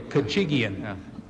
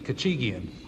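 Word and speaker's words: Khachigian: spell it for you kachigian you say it like you sneeze kachigian I'm sorry I don't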